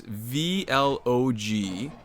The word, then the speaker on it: vlog: so I'm looking at the name is Cimino vlog and you've told me this VL o G is pronounced vlog yeah cuz you've announced it like